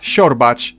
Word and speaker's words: siorbać: She. It's like a softer sh, which I've already compared to English sh in shoe. Siła, siorbać, coś.